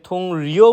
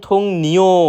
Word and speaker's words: 동료: আমরা প্রায় সময় এটাকে থুং রিও উচ্চারণ করে থাকি, যেটা সম্পূর্ণরূপে ভুল। সঠিক উচ্চারণ থুং নিও মানে সহকর্মী।